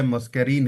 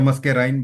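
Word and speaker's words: muscarine: पहले मस्कैरीन है इसमें, या मस्कैराइन, जो भी आप प्रोनाउंस करें उसको।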